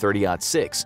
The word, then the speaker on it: .30-06: This put into serious question the need for a traditional heavy rifle round such as the .30-06 (pronounced thirty “aught” six), which was great for